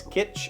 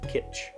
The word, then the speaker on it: kitsch: I haven't heard that in a long time, and I think I'm pronouncing it incorrectly, but I thought we used to hard pronounce the T, like kitsch.